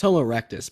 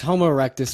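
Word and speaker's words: Homo erectus: through a thought of it's Homo rectus by the way it's it's homoerectus you mispronounced it not from Utah Ry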